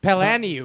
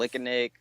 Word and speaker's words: Palaniuk: Sanders pronounced my last name 4 different ways in one TV show. Palaniuk. Palaniuk. Yeah. Palnook. Yeah. Palnook of the North. Lickanik. Lickanik. That's pretty good. Palaniuk. Oh, Tommy. Paluniak.